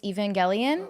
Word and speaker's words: Evangelion: Yeah, Which I'm not sure how to pronounce it. It's Neon Genesis Evangelion. Yeah, I yeah, think. Evangelion.